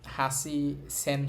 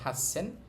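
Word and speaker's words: はっせん: ছিল হাচি মানে আট কিন্তু এখানে হাসি সেন হবে না হবে হাসছেন 8000 এর খেউ হচ্ছে নয়ন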